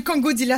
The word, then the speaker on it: Kongodila: Monsieur Kongodila, voilà. C'est comme ça se prononce.